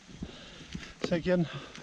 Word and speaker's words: Llyn: Llyn copper mine.